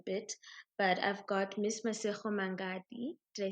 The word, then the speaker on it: Masego Mangadi: But I've got Miss Masego Mangadi.